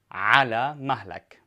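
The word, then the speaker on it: على مهلك: the phrase Allah Malik Allah Malik and this is for a man and it means slow down Allah Malik now dine here is the throat litter so make sure you pronounce it correctly Allah Malik now for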